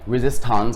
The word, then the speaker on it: Resistanz: Resistance, am I saying it correctly? Technically, yes. Okay. Because obviously Tanz, German dance, but right. Yeah, I mean we just say Tanz, whatever. Tanz, okay, Tanz.